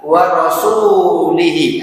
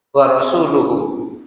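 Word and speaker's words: وَرَسُولُهُ: orang-orang musyrik ya sampai tapi di sini bacanya benar warasulihi nah ini kalau di al-qur'an Bacanya apa di situ ya sudah ngecek di mushafnya ada warasul luhu Harusnya seperti ini ya War rasuluhu Ya kalau dibaca warasuluhu ini artinya dan rasulnya dan rasulnya ini maksudnya juga berlepas diri berlepas diri dari orang-orang musyrik harusnya bacanya Demikian Ya kan ini harusnya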